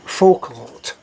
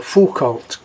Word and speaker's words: Foucault: see a ult and the way that I'm hearing it pronounced is full or full cult so let's say for cult and agree that that's